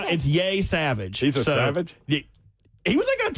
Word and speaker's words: Yesavage: Trey Yesavage. I think that's how you pronounce it. It's Yay Savage.